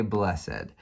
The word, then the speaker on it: blessed: But for this, I'm going to say blessed. And that's important here because each syllable gets matched up to one of these figures. So this is the first syllable, bless, and this is the second syllable, said.